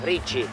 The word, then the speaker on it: ricci: Ricci.